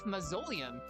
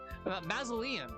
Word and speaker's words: mausoleum: So, this is the ballet mazoleium. Mausoleum, I should say. I didn't know how to pronounce that word.